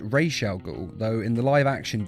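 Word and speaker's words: Ra's al Ghul: thought you'd be taller instantly his name is pronounced Rael go though in the live action DC movies and TV series he is often called Raz now ah am I pronouncing this right Mr Raz Al no you are not it is pronounced re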